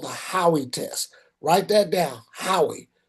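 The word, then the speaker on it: Howey: passed what's called the Howie test. Write that down, Howie. Just like a buddy of yours named Howie. It's how it's spelled.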